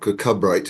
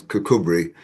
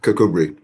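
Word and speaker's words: Kirkcudbright: It's not Kakabright. It's Kakubri. But but no one no one doesn't live there doesn't know that. It It means literally the church of Kath, but it's pronounced Kakubri.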